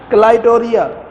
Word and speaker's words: क्लाइटोरिया: ये लफ्ज क्या है, क्लाइटोरिया, क्लाइटोरिया टर्नेटिया, क्लाई, ये CLI, क्लाइटोरिया, क्लाइटोडिया, क्लाइटोरिया, समझ आ गई, क्लाई यानी बाजू तोड़िया, क्लाइटोडिया। तो लफ्ज कैसे आपने इसको प्रोनाउंस करना, क्लाइटोरिया, क्लाइटोरिया, और आगे टर्नेटिया।